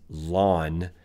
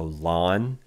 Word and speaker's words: ln: to rewrite that as lon X and the pronunciation of that is like yeah is like you know the lawn on your front yard yes it's a lawn is how we say that ln 1-x and it's